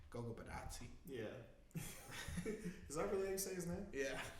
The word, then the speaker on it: Goga Bitadze: When you should have a shooter, you should have, like, you're saying, Goga Bitadze.